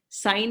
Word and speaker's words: sine: So I can also write it sine A is equal to P by H, perpendicular by hypotenuse.